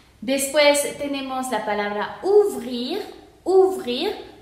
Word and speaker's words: ouvrir: Ouvrir, ¿por qué se pronuncia ouvrir? Porque OU se pronuncia U y lo demás se va a pronunciar completamente porque la R final, aquí no tenemos una E, entonces esta R final sí se pronuncia. Entonces sería ouvrir.